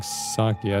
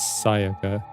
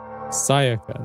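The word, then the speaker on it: Sayaka: I keep saying Saka. I think it's Saiaka. My bad. My bad. I I think I'm getting I'm I'm getting names mixed up. Saiaka, not Sakia.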